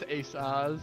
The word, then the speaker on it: Aces: It's pronounced Asaz. It's French.